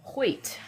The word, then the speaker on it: Hoyt: Because I was I'm sure I butchered it on the video this morning. Yeah, no problem. Hait like the I might have been close.